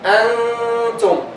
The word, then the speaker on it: antum: In ikhfa we say antum. We don't pronounce the noon.